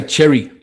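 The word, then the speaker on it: Xerri: I say Cherry like the fruit cherry. Yeah, I don't know, bro. I always get confused. Uh Bronson Cherry, he was obviously told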